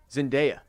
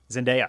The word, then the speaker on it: Zendaya: zendaya zendaya that's how it's pronounced that is how it is pronounced not zendaya damon which i'm pretty sure